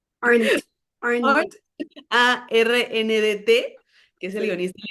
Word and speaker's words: Arndt: director, el guionista, que ayúdame, Mónica, con la pronunciación, se llama Michael Arndt, Arndt, Arndt.